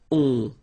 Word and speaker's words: ont: And then the ending for il, elle will be ont. You don't pronounce the final t, so you get the nasal on.